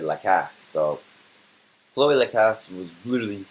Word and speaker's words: Lacasse: end where it was Chloe La Casa or Chloe the castle I was saying her name wrong all day but the announcer said La Cass so Chloe lacasse was